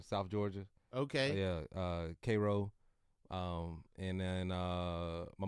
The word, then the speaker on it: Cairo: my mom's from Jamaica not Cairo no it's Koo it's K yeah the country man yeah you you know Koo is I I think I've heard of Cairo Georgia but I I yeah spell spelled like Cairo yeah I've never heard anybody say cro called kro yeah it's right outside